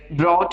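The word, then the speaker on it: brought: सो ये जो हम अगर प्रोनाउंस करने की कोशिश करते हैं तो मैं इसे क्या बोलना चाहूंगा? ब्रॉट बोलूंगा।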